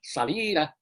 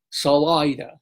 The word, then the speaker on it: Salida: And of course, being Americans and pissing on everything else from every other country, we say, no, not Salida, but Salida, Colorado, where, you like to find women with nice vaginas.